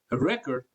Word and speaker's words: record: So when it's used as a verb, the stress falls on the second part or the second syllable of that word. But when you say record, the spelling is the same, but it's used as a noun.